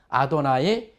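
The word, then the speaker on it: אֲדֹנָי: 야훼라고 하는이 여호와를 이제 그 유대인들은 어떻게 발음하느냐면 한번 해보시죠 아도 나이 그래서 아도 나이 하면은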